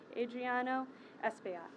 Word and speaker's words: Adriano Espaillat: I will be followed by Congressman Adriano Espaillat. Pronounced that right.